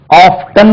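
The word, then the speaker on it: often: blow right அடுத்தாளே அடிக்கடி அடிக்கடி he comes here ஆஃபன் ஓ எப் டி என் ஆபன் இப்போ லண்டன்ல யூரோப்ல ஆஃப்டன் கூட உச்சரிக்கலாம் இது ஹி கம்ஸ் ஹியர் ஆஃப்டன் முதல்ல ஆஃபன்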